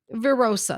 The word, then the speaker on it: virosa: So the medicine tonight that we're going to be talking about is a fun one to pronounce. It's called Cicuta virosa.